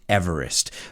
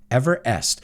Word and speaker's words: Everest: this guy's pronunciation of his last name is not everest it's ever est everest so it's interesting because everybody says everest in fact if you